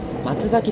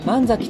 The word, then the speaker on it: 神崎: に到着しますこの駅も読み方は松崎ではなく万咲となるようですこの駅は 1